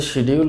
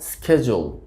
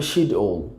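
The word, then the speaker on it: schedule: আসলে সঠিক উচ্চারণটা হবে স্কেজুল। স্কেজুল। স্কেজুল। আর যদি ব্রিটিশ উচ্চারণ আমরা বলি তাহলে এটির উচ্চারণটা হবে শিডিউল। শিডিউল। শিডিউল। আমেরিকানরা বলে থাকে স্কেজুল, আর ব্রিটিশরা বলে থাকে শিডিউল।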